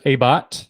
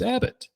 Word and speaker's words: Abbott: It has been pronounced as Abbott, but those people are not in my life anymore. And after many years of therapy, it's Abbott. So get it right.